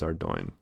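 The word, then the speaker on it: Ardougne: here as ardoin and I realized that I think I've been pronouncing that wrong all this time it is our doing I think I've called it already Shane for way too long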